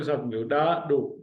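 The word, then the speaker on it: ڏاڏو: डाडो, DDA, डा, DDO, dough, डाडो। This is डाडो, this is डाल ladder वारो डाडो, डाल लेडर वारो डाडो।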